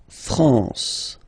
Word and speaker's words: France: France. La France. Okay. A N here. Nazal la France.